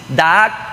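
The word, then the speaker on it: דעת: La palabra conocimiento en el hebreo es da'ak, así, da'ak. Puede ser que mi pronunciación no esté tan así regularizada, la pronunciación hebrea, pero es como usted lo está escuchando: da'ak, da'ak.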